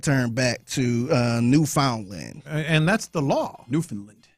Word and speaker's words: Newfoundland: Is it Newfoundland? I'm sorry. Ain't no Canadians here. Yeah. They're not here to tell us any different. But I think technically it's like that's Newfoundland. That's how you pronounce it.